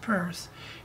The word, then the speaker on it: Peirce: Now the other fellow, Charles Sanders Peirce, pronounced Peirce, the theorist, he's also a mathematician, he's a language, he's a genius.